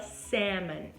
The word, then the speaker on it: salmon: Salmão, salmon. E nessa palavra, então, o L é mudo, gente, tá? E se você quiser impressionar as pessoas com seu inglês, você fala salmon.